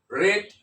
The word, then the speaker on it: read: sentences it is actually red red this is the past participle of uh read read read the spelling is same but the pronunciation is different someone has read the